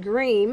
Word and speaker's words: Griem: the doctor uh yesterday dr pronounced green i'm sorry radiation is